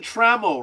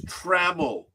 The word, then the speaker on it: Trammell: It's Trammell, not Trammell.